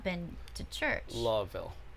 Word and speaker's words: Louisville: not been to church law ville louisville that's how you say it louisville kentucky i